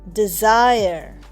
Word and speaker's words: desire: DESIRE, ডিজায়ার। দেখো ডিজায়ারে ই উচ্চারণ হচ্ছে না, আর তার ই এর আগের যেটা ভাওয়েল সাউন্ড বা ভাওয়েল আই, এটার কিন্তু একটু লম্বা উচ্চারণ হচ্ছে, মানে ডিজায়ার।